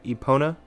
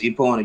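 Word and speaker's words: Epona: name is eona did I say that right eona yes eona you pronounced it correctly okay is she cute okay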